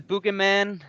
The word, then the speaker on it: Buggeman: scientific channel, and I have with me the Buggeman, Victor, and today... Yeah, the Buggeman. Yeah, I know it's hard to pronounce. Yeah. Yeah, it's kind of it's a play on the Boogeyman, because we're boogeymen that are coming and scaring people.